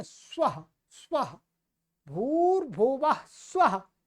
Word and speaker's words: स्वः: वो कहते हैं स्वाहा, चांतरिक्षमथो स्वाहा। स्वाहा नहीं है भाई, स्वः। ये अ ह्रस्व अ है, जिसको छोटा अ बोलते हैं। स्वः, स्वाहा नहीं, स्वः, स्वः, भूर्भुवः स्वः, वो वाला है।